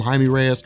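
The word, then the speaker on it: Jaime Reyes: to Batman Jamie Reyes now I call him Jamie Reyes some some people like Joe call him Haim Reyes I think it really just kind of depends I'm used to pronouncing it Jamie Reyes I mean that's that's I don't know why it would be pronounced a different way but Jamie Reyes is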